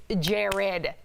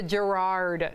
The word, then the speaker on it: Jared: me Jared or Gerard my name is Jared Jared stop with the Gerard so we all miss